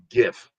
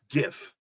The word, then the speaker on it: GIF: It's, you know, the G is a hard G. It's graphic interface file. It's GIF. No, it's GIF.